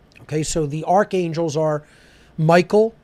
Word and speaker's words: Michael: Okay, so the archangels are Michael, or if we're pronouncing it the ancient way, Mikael, right?